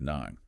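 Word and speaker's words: གནང: I must use the honorific verb nang, pronounced nang.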